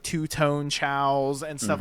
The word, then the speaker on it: Chao: And I think that you have been mispronouncing Chao this whole time. I think they're KOs. No, it's Chao.